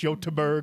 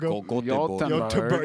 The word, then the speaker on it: Göteborg: don't know how they say it in Swedish, Göteborg. Göteborg.